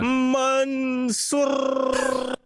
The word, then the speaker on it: Mansoor: Kicking off the Crown Jewel card, the hometown hero, Mansoor. Can you roll your R's? I can't do the roll. Oh, I can do it. Yeah. Mansoor versus Mustafa Ali.